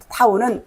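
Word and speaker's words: ת: 타우는 완성, 마지막. 알파벳 마지막 말이 이 타우 또는 타부 이렇게 발음하는데 완성을 의미해요.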